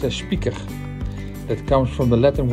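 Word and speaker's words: Spieker: also popularly known as code Spiker Spiker is pronounced as Speaker that comes from the Latin words picarium which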